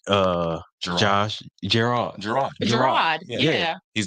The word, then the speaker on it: Gerard: That's how they pronounce his name. Gerard. Gerard. Yeah. He's not American. It's not Jared.